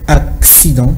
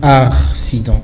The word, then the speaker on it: accident: se prononce vous savez lorsque il y a deux C on a l'impression d'avoir un X accident parce qu'il y a le premier c'est qui doit se lire comme voilà donc on dit accident et non accident vous